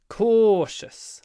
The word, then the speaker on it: cautious: is a c investor cautious long o sound it's a double Co